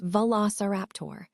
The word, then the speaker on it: Velociraptor: The pronunciation is Velociraptor.